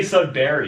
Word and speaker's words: Sudbury: That's how No, people say Sudbury. That's how my city's pronounced.